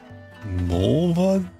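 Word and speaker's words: Mullvad: It's called Molevad. Mulvad, what's your name? Molvad. Ah, it rhymes with the female body part.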